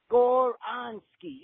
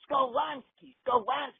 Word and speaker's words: Skoronski: And in the comments, I was saying, Foz, it's Skoronski. Even my 3-year-old nephew, when I got him playing and, listening to videos when I'm babysitting, he stomps around. He said, no, Skoronski.